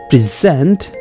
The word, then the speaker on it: present: two words have the same spelling but meaning is changed only for stress pattern when we give stress on the first syllable it is a noun and when we give stress on the last syllable it is a verb in English language there